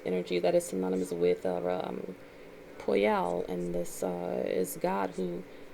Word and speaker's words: Poyel: So this angel's name is called Poyal, and it's spelled Poyel.